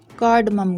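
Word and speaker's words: cardamom: कार्डमम green, यहाँ पे ओ silent है।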